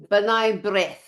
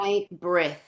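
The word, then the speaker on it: B'nai B'rith: Benign Brith. Yeah, Benign Brith.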